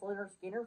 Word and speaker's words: Lynyrd Skynyrd: me quite well that is going to be pronounced Leonard Skinner from Leonard Skinner uh you know their debut